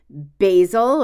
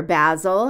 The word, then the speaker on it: basil: one right now rosemary basil or basil however you pronounce it whichever side of the pond you're on Safran which is one